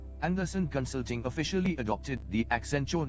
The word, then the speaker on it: Accenture: As part of an internal name generation initiative dubbed Brandstorming, he submitted the Accenture name because it rhymed with adventure and suggested an accent on the future.